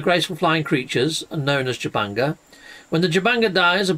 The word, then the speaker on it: Jubanga: it comes to restoring the relics of the Jubanga. I think I pronounced it right that time.